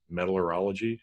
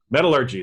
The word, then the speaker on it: metallurgy: little more about metal metallurology however you say that right metallurgy there we go gotta pronounce it correctly so i actually made